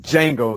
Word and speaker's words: Django: Okay, God damn it, Django. The D is silent.